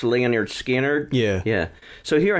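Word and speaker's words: Lynyrd Skynyrd: ago you said uh the album called It's pronounced Leonard skinnard yeah yeah so here I have the picture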